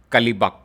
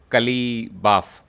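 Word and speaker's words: Qalibaf: Iranian parliament who has said this, Mohammad Bagher Kalibak, Kalibaf. Okay, that's a difficult one for us to pronounce.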